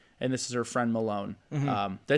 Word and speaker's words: Malone: and this is her friend Malone.